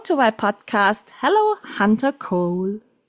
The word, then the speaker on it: Kohl: In Germany, we would say coal. What's the English pronunciation? Co. Cole. It's not as fancy as that. It's more like coal.